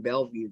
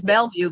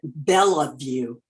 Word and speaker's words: Bellevue: convention how far is Bellevue from you it's close to Kathy yeah and Uncle used to live in he called it Bella View or is to drive us all crazy still mispronounced it my neighbor is Kirkland